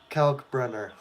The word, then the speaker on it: Kalkbrenner: Ryan Kalbrenner at the line. Kalkbrenner. Yes, Kalkbrenner. I think that's how you pronounce it.